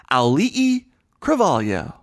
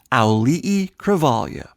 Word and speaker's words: Auli'i Cravalho: I'm talking about Moana's Auli'i Cravalho. Auli'i Cravalho.